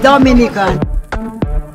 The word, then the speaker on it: Dominica: it's rum punch time oh we call it dominican it is spelled d-o-m-i-n-i-c-a it is not dominican republic it